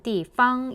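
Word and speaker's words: 地方: 중앙과 지방이라는 의미의 지방은 띠팡 일성으로 반드시 읽어야 되고요. 그리고 띠팡이라고 경성으로 읽는 경우에는 어떠어떠한 곳, 어떠한 장소 이런 의미로 쓰이죠.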